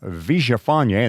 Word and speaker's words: Villafañe: You know by now that Sofia Villafañe, and that's how you pronounce her name, Sofia Gomez Villafañe, and I've had to practice this a lot to finally get it right.